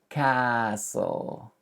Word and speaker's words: castle: Number 19, castle. Forget about the T and this will kind of make sense. Castle.